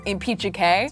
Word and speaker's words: Impeachike: Also, if you were wondering, my actual last name is Impeachike. So that's how you pronounce my last name.